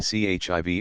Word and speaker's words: chive: in all these cases the word is pronounced as though written chivv or chiy chive fencer a street